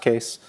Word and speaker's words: Kees: the Linux kernel um my name is spelled that way which is a Dutch spelling but it's just pronounced case um I respond to